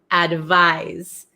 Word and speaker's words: advise: eight we have advise advise okay so this is like more of a z sound oh okay Erica is